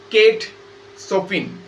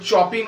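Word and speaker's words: Kate Chopin: দেখতে পাবে that is কেট সপিন ওটা চপিন উচ্চারণ করব না কেট সপিন সিটার উচ্চারণ স এর মত হবে এনার আরো একটা নাম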